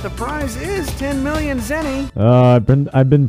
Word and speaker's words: zenny: But the prize is 10 million zenny. I've been pronouncing it all wrong. For years, I've been pronouncing it zini.